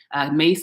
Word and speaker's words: Myss: And there's this Caroline Mace. I'll like link it in the comments. Mace is spelled Myss.